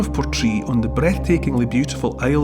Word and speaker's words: Portree: Portree, it's spelt Portree, but it's from Gaelic. You know, Gaelic was the language of the Highlands for thousands of years. And it's port, as in port, somewhere you bring in a ship, a port.